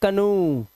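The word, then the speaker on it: canoe: लेकिन कुछ वर्ड में ओ ई का उच्चारण उ हो जाता है।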